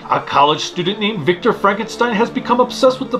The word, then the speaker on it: Frankenstein: It's pronounced Frankenstein. Perhaps, however, I'm an American heathen, therefore, it's pronounced Frankenstein.